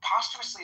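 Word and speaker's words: posthumously: She says uh uh what does she say po like uh postu postumously instead of post or no she says no postumously is how you say it.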